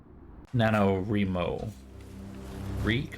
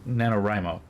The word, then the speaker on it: NaNoWriMo: gonna say it wrong Nano Remo reek right nanowrimo there he is he's supposed to say like right like right because that's National novel writing month anyway how was it